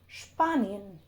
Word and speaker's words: Spanien: A quick tip, SP at the beginning of a word is pronounced as sp, not spur, but sp with an additional h sound. So that's why it is Spanien.